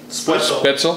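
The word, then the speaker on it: Spoetzl: How do you pronounce that? Spotzel? Spitzel.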